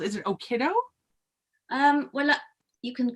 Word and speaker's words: Okido: Your work is frequently found in a magazine called, is it Okiddo? Well, you can call it what you know. You can pronounce it however you like, but I tend to call it Okido.